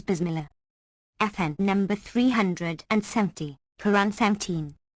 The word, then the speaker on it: Bismillah: kept FN number 369 dictionaries give the word boss Miller equals saying Bismillah but the common pronunciation is Bismillah FN number 370 Quran